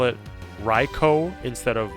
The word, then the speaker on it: Raichu: a bit inconsistent but as far as the actual pronunciation based off Japanese raicho is the correct pronunciation but I can't blame you for Raichu either because that's how it looks in English you find a pokedex